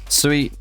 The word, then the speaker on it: Sui: I mean, Sui means water in Cantonese, like Sui, that's how you pronounce it.